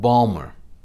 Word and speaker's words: Baltimore: baltimore for many generations you dropped the ti and you called it balmer the world around us